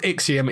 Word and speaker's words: IXIOM: of frostpunk style based building game it's called ixium it's ix-i-o-m is how you spell it definitely want to go and look at